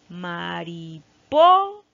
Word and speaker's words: mariposa: A ver, vamos a probar con ma. Mariposa. No, no hablamos así, por lo tanto aquí no está. Mariposa. Tampoco no está aquí. Mariposa. Muy bien, aquí se encuentra la sílaba tónica.